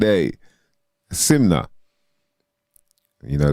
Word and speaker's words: SYMNNKNA: n k n a simna you know the K is silent when you use proper English then and you get